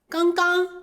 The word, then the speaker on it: 刚刚: 刚刚就是刚才，口语里面会把第二个字的发音模糊，连在一起说，后面一个字的个这个音不发，只发昂的音，这样说